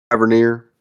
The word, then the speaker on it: Tavernier: Is it Tavernier? Tavernier. Yeah, definitely. I think that's all of those are exactly how you say it.